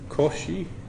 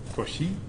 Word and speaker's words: Cauchy: saying with the Coronet correct pronunciation it would be Cauchy because he's the brain Cauchy it's really funny cuz